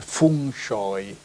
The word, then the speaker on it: feng shui: in Cina c'è il classico feng shui no Come viene chiamato la pronuncia giusta sarebbe Fun shoi Che vuol dire vento